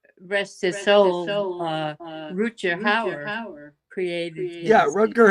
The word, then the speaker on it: Rutger: Rutger Hauer pronounced his name Rutger. It's Germanic, I believe, for Richard or Roger. So it's Rutger Hauer. It's not Rutger, but I think, like Mark, most people just give up and say Rutger.